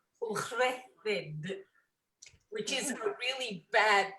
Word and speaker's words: Ucheldiroedd: It's Ucheldiroedd, which is a really bad bit of Welsh.